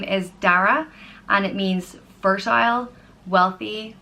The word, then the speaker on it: Dara: The next name is Dara, and it means fertile, wealthy, or dark oak. And it's pronounced Da-ra, Dara.